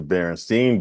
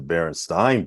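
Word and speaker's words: Berenstain: And it's kind of like, how do you pronounce it? Like for those that think that it's the Berenstein Bears like I do, you'll be sad to hear like, no, it's the Berenstein Bears.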